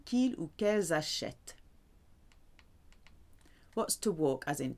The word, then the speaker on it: achètent: Now we go back because we've got that ENT, which is silent at the end. Ils, elles achètent.